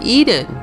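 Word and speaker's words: Ehden: For example, a town across from Hasroun is called Eden, E-H-D-E-N, which phonetically is the same as Eden, E-D-E-N, as in the Garden of Eden.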